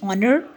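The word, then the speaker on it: honour: next example है जी ऑनर जब हम ऑनर कह रहे हैं इसमें भी एच साइलेंट है और इसमें जो फर्स्ट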